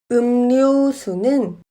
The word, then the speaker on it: 음료수: 음료수는 음료수로 발음합니다.